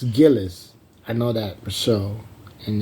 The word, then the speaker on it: Gillis: then uh and then Elizabeth Gillis they said Gillies it's originally Gillis so there's a couple girls on TV they hid it and they're pronouncing the last names wrong like Gillies it's Gillis I know that Rochelle and then stuff like